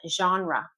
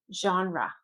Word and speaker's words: genre: And it's important to pronounce them the English way if you're speaking English. Okay. First one. Genre. Genre. Genre.